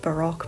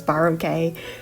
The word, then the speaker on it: Baroque: on royalty and Renaissance/Baroque, which I found out is actually pronounced Baroque, but I'm not going to stop pronouncing it as Baroque, whereas academia is more modern and Victorian in regards to its influence.